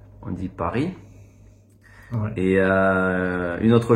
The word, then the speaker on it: Paris: et pourtant en français dans la plupart des mots on prononce pas la dernière lettre comme Paris on dit pas Paris on dit Paris ouais et euh une